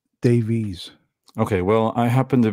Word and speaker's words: Davies: It's like in the UK, it's pronounced Davis. Davis, okay. But in North America, it's pronounced Davies.